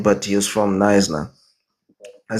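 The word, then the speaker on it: Knysna: but he was from Naisna. I said to him, the name Naisna, it is a Korah name, right? It's Kaisna, right? We say Kaisna, that's why you say Yeah.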